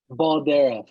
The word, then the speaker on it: Baldera: say your last name baldera there we go so it kind of looks like the way it looks okay okay just want